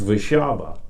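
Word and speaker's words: Warszawa: westernized everything you know so warsaw is in our english vernacular w-a-r-s-a-w right well over there is w-a-s-a-r-r-z-a-w-a something like that and it's pronounced vashaba oh wow and and i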